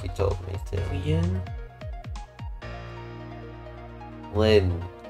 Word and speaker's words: Lynne: Lynne. Yes, it's one syllable.